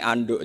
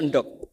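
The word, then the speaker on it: endog: rawuh Alhamdulillah jadi karena dibaca Anduk tadi karena beliau orang Betawi terus dibenerin sama gurunya endok tapi setelah dibenerin murid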